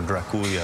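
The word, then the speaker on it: Draculea: Dracula, or Draculia as it's pronounced, means son of the dragon, or in Romanian, son of the devil.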